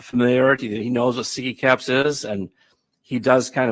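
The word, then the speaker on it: SIGECAPS: That's how you pronounce it, right? Siggy caps? Yes. Because I pronounced it Sige caps the other day, and that was wrong.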